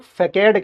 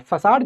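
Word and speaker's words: façade: ये फसाड है ये वाला। इसको इंग्लिश में कुछ लोग फकेड कहते हैं। फकेड बट इट is pronounced eight फसाड।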